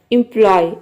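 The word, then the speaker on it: employ: तो आप देख रहे हैं कि इन सभी वर्ड में ओ वाई एक साथ आ रहा है और ओ वाई को हम वाई प्रोनाउंस कर रहे हैं।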